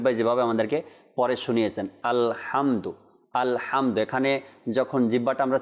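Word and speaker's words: الحمد: যেন আমরা কলকলা বা জবর না লাগাই কিভাবে উচ্চারণ আলহামদু ইনশাআল্লাহ তো আমি বানান করে আপনাদেরকে শোনাচ্ছি আপনারাও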